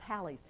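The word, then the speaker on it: Halley: How do you pronounce it? Nah, it's Hallie's.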